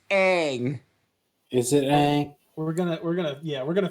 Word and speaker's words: Aang: And you are pronouncing it in the M. Night Shyamalan way. We do not use that name here. It's Aang.